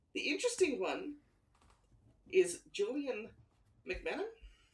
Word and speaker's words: McMahon: You don't really say it as 3 syllables. You say it as 2 syllables.